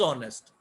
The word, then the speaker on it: honest: why we say an honest? उसकी वजह ये है H silent है मेरे प्यारे भाई, H is silent. This is not honest, this is honest. So H is silent, the sound is honest.